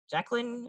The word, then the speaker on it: Jaclyn: Jacqueline, am I pronouncing that correctly?